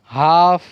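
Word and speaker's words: half: Talk, काफ, काम, चॉक, walk, Fock, हाफ, Simon. क्या है, सैमन, सैमन और पाम। तो यहाँ पर जो एल की आवाज़ जो है वो साइलेंट है।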